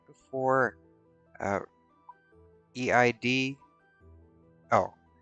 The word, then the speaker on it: Eid: And Incognito says, our version of Black Friday is markets and shops right before uh, EID. Oh, Aid. It's a religious holiday. I don't know how to pronounce it.